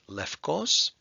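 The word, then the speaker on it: λευκός: to know glucose and in modern Greek this is pronounced lefkos there's your combining form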